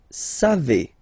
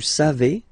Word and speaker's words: savez: Then vous savez. Classic ending for vous, E-Z, but then phonetically it's E.